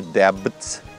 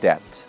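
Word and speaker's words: debt: слово это долг едят здесь буква б и третья буква не произносится это не дебби а просто дать ддт долг они типов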